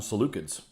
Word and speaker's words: Seleucids: k i'd call them seleucids sure but with a c yeah it's a soft c doesn't really matter as